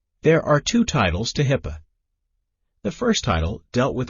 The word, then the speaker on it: HIPAA: The Health Insurance Portability and Accountability Act of 1996, commonly known as HIPAA, pronounced HIPAA, was passed by Congress